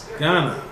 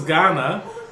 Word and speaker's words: Ghana: um so this is Ghana notice in the spelling that in English we have an H between the G and the a but the pronunciation is pretty much the same all right I think